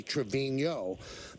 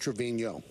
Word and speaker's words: Trevino: the tilde over the end which is usually Trevino but he doesn't have the tilde but his name is pronounced Trevino got it okay you got it thank you